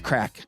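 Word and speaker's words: craic: using that correctly um it's not spelled the way we spell it though it's like c-r-a-i-c that's crack I think you're supposed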